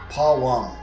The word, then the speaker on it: Purim: Well, actually, before we read into it, let's get a little bit more into what Purim is. Okay, so when you get into Purim, it's pronounced Pawam, right?